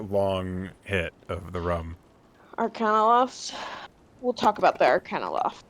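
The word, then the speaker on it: Arcanaloth: Arcanoloth. We'll talk about the Arcanoloth too. Moth. I can't. Oh, moth rhymes with loth.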